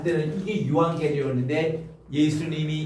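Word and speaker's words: εὐαγγέλιον: 엡실론하고 우 하면요 에우 발음이 아니라 유 발음이 나요. 따라합시다. 유. 그래서 여기서 이제 감사합니다 할 때 유앙겔리온이라고 그렇게 얘기하는데, 자, 요게 때 요 유라고 발음해요. 따라합시다. 유앙겔리온.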